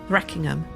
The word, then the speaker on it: Threkingham: These kings were then buried hurriedly and they gave the village its name three king Ham pronounced by the locals Reckingham.